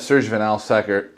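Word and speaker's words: Serge Van Laer: We've got Serge Vanlaer.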